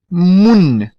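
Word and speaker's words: moun: Mun, mun. Aqui você vai encontrar a primeira palavra que talvez traga alguma confusão. Note que o N no final ele é pronunciável. É diferente do português.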